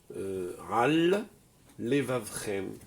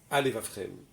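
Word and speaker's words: על לבבכם: Il faut prononcer la dernière lettre et la première lettre, même si c'est la même. D'accord? Par exemple, Ral Levavchem. J'ai bien dit le mot Ral et j'ai pas dit Alevavchem.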